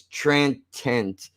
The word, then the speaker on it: transient: Okay, the way that it's pronounced is transient, which makes it sound like there's a C in there someplace, and there's not.